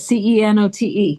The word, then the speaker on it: cenote: C E N O T E.